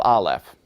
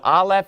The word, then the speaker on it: Aleph: And so let me teach you the pronunciation of Aleph. I just did. It's actually silent. So all this work to learn your first letter, and it turns out it's silent. It doesn't make any sound.